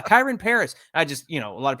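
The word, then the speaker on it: Kyren Paris: And it's like they have some guy, Mike, his name, I believe, is Kareem Pari. Is that how you say it? Or Kyron Paris? Oh, him. Yeah, Kyron Paris.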